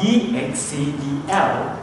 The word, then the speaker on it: excel: So how about EXCEL? It's a verb, it's excel.